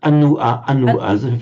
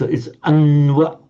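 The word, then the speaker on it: अन्वशोचस्: Also, I noticed that in this Anvashochas, you pronounce it anua, as if it's 3 short syllables. No, it's anwa, it's 2 syllables only. It originally was anua, 3 syllables, but by sandhi, the ua becomes wa, so anwa. So it's one heavy syllable, exactly. One heavy syllable followed by one light syllable, Anvashochas.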